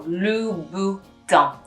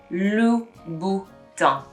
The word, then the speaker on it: Louboutin: So Louboutin, Louboutin. The N you don't really pronounce. It's a bit of a silent N.